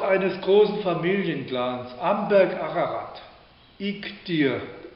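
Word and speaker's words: Iğdır: großen Familienclans Amberg Ararat ik dir heißt die Stadt wird spricht man etwas anders aus aber geschrieben wird g ik dir dir IG dir und die Familie dieser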